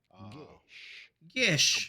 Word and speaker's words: geas: go Celtic about pronouncing it? Gish.